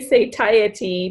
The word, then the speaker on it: satiety: Oh, it's Satiety, also satiety. okay. So it's either what. No wonder we don't know how to say it. It's both.